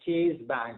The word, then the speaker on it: Chase: Ma'am, I'm talking about Chase Bank. It's Chase Bank. Okay, I think you pronounced Chase. It sounded like cheese.